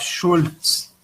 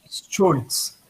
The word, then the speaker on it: Scholz: a pessoa que lidera aí o SPD nessas eleições, Olaf Scholz, é uma pessoa aí praticamente de extrema direita dentro do SPD.